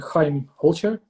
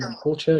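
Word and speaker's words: Chaim Holtjer: And pronounce that whole name again, because I don't want to butcher it. My name, Chaim Holcher. Hot message. Keep going. Chaim Holcher, yes.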